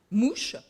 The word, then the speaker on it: mus: différente du jeu basque de mus à prononcer mouche proche du poker et